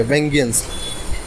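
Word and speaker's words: vengeance: एक मिनट वेंगेनेंस, हाँ VENGANC, इसको प्रोनाउंस कैसे करेंगे? वेंगेनेंस।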